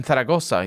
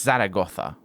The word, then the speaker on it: Zaragoza: translated in taragoza here no it's actually not Tara it's Zara it's Zara gotha is it saragotha or is Zaragoza no that Zed is pronounced differently I think for reasons that I'm not privy to because I'm not a Spanish speaker but anyway uh in